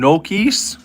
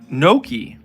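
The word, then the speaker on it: gnocchi: You're eating some Nokis.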